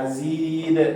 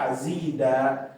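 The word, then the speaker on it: أَزِيدَ: Nah, azid. Jangan dibaca azida. Kalau dibaca azida keliru karena khusus kalau ada an-nya aja yang dibaca seperti itu.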